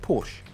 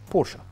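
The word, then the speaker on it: Porsche: نطق اسمها الصح وهو الاسم اللي عدد كبير جدا من الناس بتنطق غلط خاصه النطق الاسم بالانجليزي بورش وده بيختلف عن طريقه نطقه بالالماني بورشا تعالوا نشوف ازاي ننطق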